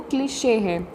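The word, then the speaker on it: cliché: इसका जो प्रोनाउंसिएशन है वो क्लिशे है, CLICHE, क्लिशे।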